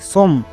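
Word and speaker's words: some: এস ও এমই সম একে অনেকে সম উচ্চারণ করছো। বাট সমম উচ্চারণ হবে না। এর উচ্চারণ হবে সাম।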